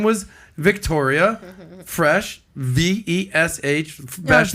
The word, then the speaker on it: Vesce: was Victoria Fresh, V-E-S-H, Vesh, like V-E-S-C-E. V-E-S-C-E, but pronounced Vesh, like fresh. That's the country way to say it. I mean, in Italy, you say Vecce, but I thought it was Vecce.